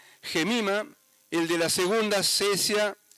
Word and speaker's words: Cesia: Llamó el nombre de la primera Gemima, el de la segunda Cesia, que también se pronuncia Quesia, y el de la tercera Keren Apuk.